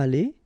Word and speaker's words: allée: You don't pronounce it, but you need to write it. Okay? So let's read them. Il sera allé. Elle sera allée.